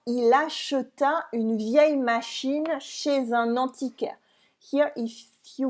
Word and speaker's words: chez: And here, chez is pronounced without the Z at the end, chez on its own, but because we add